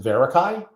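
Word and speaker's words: Verakai: And Carrie is the founder and president of Do I Pronounce it Verarakai?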